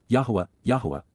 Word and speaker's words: Yahowah: And, YAHOWAH, the proper pronunciation of the name of Eloah, God as